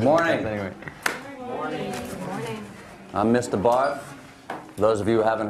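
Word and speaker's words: Barthes: Barth. The S is silent.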